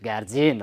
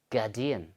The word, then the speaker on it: guardian: Not guardian, okay. So please, you have to, pronounce correctly. So this is guardian, okay, guardian. So this is how we pronounce these words correctly.